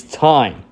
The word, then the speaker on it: Time Warp: Much like Time Warp being mispronounced by everyone. It's thyme. Like the herb.